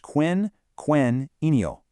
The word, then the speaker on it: quinquennial: Pronounced quin-quen-ennial.